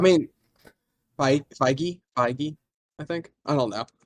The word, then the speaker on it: Feige: Get Kevin Fahey in. Is that how you pronounce his Yeah, last I name? mean, Feige, I think.